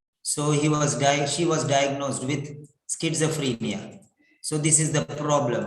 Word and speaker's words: schizophrenia: Skit, skit, skit, like sit, skit, skit, sa, not za, sa, sa, skitsa, free, F-R-E, free, ni, schizophrenia.